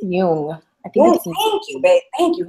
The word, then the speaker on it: Jung: I think it's Jung.